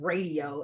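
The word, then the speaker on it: Raedio: by um these artists I've I've heard of radio and it's spelled r-a-e-d-i-o but I had never heard of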